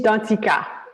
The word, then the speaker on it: Danticat: our author so let me make sure i pronounce right so edwidge dundeeka right uh edwise dantzika he's done the cow okay perfect yes so